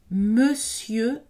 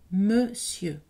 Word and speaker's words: monsieur: exception ici à mémoriser monsieur donc pas nadal et le n ici n'est pas prononcé non plus monsieur s'ennuyer ou vous voyez